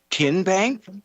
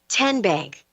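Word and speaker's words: TNBank: Tin Bank. Uh-uh. So, what is it? Tenbank. 10 as in Tennessee.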